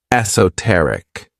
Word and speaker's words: esoteric: This word has four syllables and the stress is on that third syllable, esoteric.